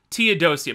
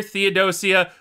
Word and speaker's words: Theodosia: no oh i okay you do pronounce the h i was looking at i'm like why is it not dear teodosia but yeah dear theodosia i apologize to any